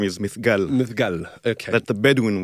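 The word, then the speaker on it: Mithqal: and welcome to the telev review hello so mygal Al is that how you pronounce his name yeah there are several way as you can that the way he pronounced his own name is mygal mygal okay that the bedwin way who was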